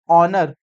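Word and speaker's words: honour: that is consonant consonant but एच इ silent तो ट्स वई ऑनर I speak O ऑनर सो ओ is Wavell sound ट वि sound vowel sound O एच इ silent so इट is like a started with a vowel understand next definite articles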